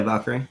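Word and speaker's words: Valkyrae: Valkyrie. Is that how you say it? Valkyrie? Yeah, Valkyrie.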